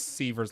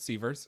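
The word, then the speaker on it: Seavers: Is it Severs or Severs? I think it's Severs like beavers.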